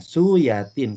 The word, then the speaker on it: Suyatin: Raden Ajeng suyatin Nah suyatin kenapa saya bilang suyatin karena oe adalah ejaan lama kalau ejaan sekarang oe Jadi u j itu ejaan lama diganti dengan yang baru jadi y Nah jadi Kongres Pemuda